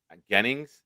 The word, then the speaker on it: Gennings: Is Is Is Jennings Is Is pronounced Jennings? I don't know if it's Jennings or Gennings? Gennings.